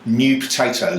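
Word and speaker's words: Neu Potatoes: New Potatoes. New Potatoes. But it's spelt in the German way, N-E-U.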